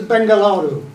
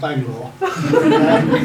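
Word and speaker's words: Bengaluru: of this town no this town is bengalaru oh sounds like Bangalore Etc so the pandem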